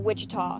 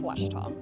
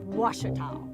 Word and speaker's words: Ouachita: Back in Texas, everybody pronounces it Wichita, but really, it's Ouachita. Ouachita.